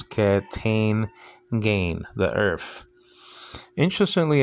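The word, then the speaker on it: καί: Kai, now they pronounce ke, tain, gain, the earth.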